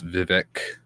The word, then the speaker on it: Vivek: One of them was, of course, Vivek Ramaswamy.